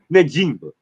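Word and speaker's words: Njigba: One embarrassing Baris Sanders, two embarrassing the NFL offensive player on the year by ignorantly ignorantly mispronouncing his name. Jonath Jackson Smith Nima, not Jackson Smith n word and whatever kind of connotations you want to add with that dusky.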